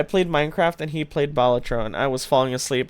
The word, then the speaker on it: Balatro: Balatro? Ooh. Did you know that's how it's pronounced?